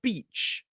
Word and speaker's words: beach: So both of them have a long e vowel sound. We're going to focus more on that tomorrow. So these two words are sheet and beach.